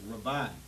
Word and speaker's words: Rabi: I just pronounced it like rubber eye, but it's rabi.